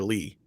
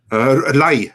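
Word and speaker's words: lei: Is that how you say it? Lie or Lee? Lie. Romanian lie. Lie. So I had it right.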